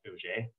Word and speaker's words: Auger: electron spectroscopy so oj it looks like it's auger but it's pronounced oj just like the drink uh epr electron paramagnetic